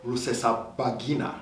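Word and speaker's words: Rusesabagina: i'm going to start with this name paul russesa bagina yeah you've done it well i can never pronounce that name that's right and uh yeah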